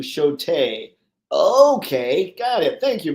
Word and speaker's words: Shota: And yes, it's pronounced close to Shote.